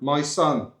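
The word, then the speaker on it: Mỹ Sơn: My son. And it's literally as you spell it in the UK, MYSON. Yeah, my son.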